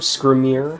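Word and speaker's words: Skrimir: and W that's how you say his name scrier failing strength gallan morale is further improved by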